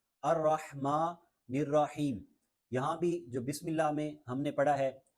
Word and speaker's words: بسم: بسم اللہ الرحمن الرحیم۔ بسم اللہ، سین میں ہلکی سی سیٹی کی آواز آنی چاہیے۔ بسم اللہ الرحمن الرحمن،